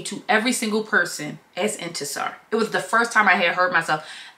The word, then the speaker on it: Intisar: ask me what my name was how to pronounce it she wanted to be clear and introduced me to every single person as into sir it was the first time I had heard